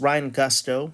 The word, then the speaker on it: Gusto: Uh you know, I I I am not a native Spanish speaker. I don't I can't even rely on that as a uh as an excuse for why I pronounce it Ryan Gusto. it. But it's it's Ryan Gusto to my knowledge.